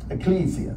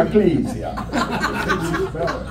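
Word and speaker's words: ekklesia: will build my Ecclesia that's the actual pronunciation Ecclesia sounds kind of like Transylvania I will build my Ecclesia yeah I'll build my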